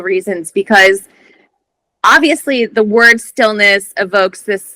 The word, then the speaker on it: Stillnuss: it for multiple reasons because obviously the word Stillness evokes this like idea of kind of peacefulness